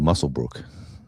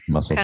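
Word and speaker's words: Muswellbrook: Mus Muswell Brook is very um much pronouncing it as it looks, but it's called Muselbrook. Muscle. Oh, the W is silent. Okay. Yeah. Muscle Brook.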